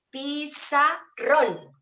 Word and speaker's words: pizarrón: Pizarrón. Fíjense que yo hago siempre una fuerza más en la última sílaba.